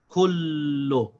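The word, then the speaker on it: كُلُّ: We say kullu.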